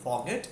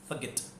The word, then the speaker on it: forget: It's word, it इज़ not called फॉरगेट, इट is called फॉरगेट.